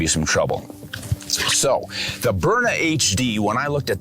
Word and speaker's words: Byrna: makes perfect sense and burna is actually a play on words too phonetically burn uh like that capsaicin burns doesn't it right so burna but they spell it